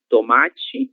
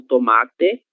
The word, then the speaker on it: tomate: Então, temos milho, palmito, pepino, pimentão com som ão, tomate ou tomate, se pronuncia da forma que preferir.